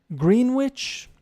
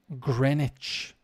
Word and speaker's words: Greenwich: thames it's thames over here in london the pronunciation woolwich no wolich greenwich greenwich so uh i'm just looking at different places